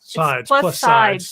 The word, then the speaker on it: Plus SideZ: But we're simulcasting plus sides. Sorry. Yes, The plus Z is sides. silent. It's The Z is silent, right? Well, Yep. it's like sides, like many sides, because it's the plus sides of GLP-1 medication.